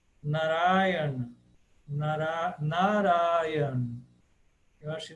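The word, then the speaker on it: नारायण: ele ele está ali ele deve ser pronunciado sim naran narayan mas ele é breve el não pode ser narayana narayana não pode ser nada assim eh porque a tônica está no ra na na e o na primeiro também é aberto então é n Acho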